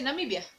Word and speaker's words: Namibia: you're saying a word like namibia just say namibia namibia namibia namibia namibia if you're saying the